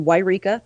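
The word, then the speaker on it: Yreka: he drives up to wika that is how it's pronounced by the way WIA California and he abducts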